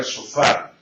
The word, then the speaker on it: shofar: Y la palabra shofar se escribe con una palabra, con una letra que en castellano no la tenemos, que es la SH. Sh. No hay una letra en castellano que tenga el sonido de sh.